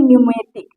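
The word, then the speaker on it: pneumatic: निमोनिया, यहाँ देखिए न्यूमेटिक, यहाँ पर भी यन आया है, पी साइलेंट है।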